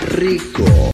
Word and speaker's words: RICO: Rico, suave, and Rico, suave, rico, suave. I believe you have to say it like Rico.